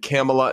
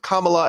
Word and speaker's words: Kamala: on a panel that she said Kamala instead of Kamala, and then she said, I don't care how to pronounce it, I'll say it however I want.